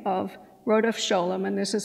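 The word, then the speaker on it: Rodef Scholem: is to be known by the name of rhodopsholum and this is spelled r-o-d-e-f-s-c-h-o-l-e-m and there's a whole talk to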